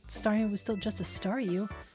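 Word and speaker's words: Staryu: was still just a stareu, I can never pronounce its name right. It always ended up sounding like saw you.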